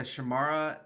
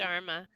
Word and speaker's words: Sharma: Rishka, I'm going to pronounce this wrong, Rishka Shamara as Commander Ellen Landry and Jason Isaac. Sharma.